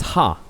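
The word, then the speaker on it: ห้า: if I'm wrong but in Thai five is pronounced as ha so 5555 means haaa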